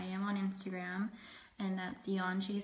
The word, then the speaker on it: Yeonji: It's Yeonji. That's spelled Y-E-O.